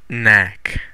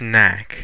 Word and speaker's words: Knack: how to say that it's pronounced knack it's knack see what else we